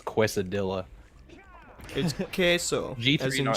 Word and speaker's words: quesadilla: to know I put C is C a DIA close its qu e I won't fault you for that you yeah it's Spanish it's yeah it's phonetically its cuesta Dilla okay so geez you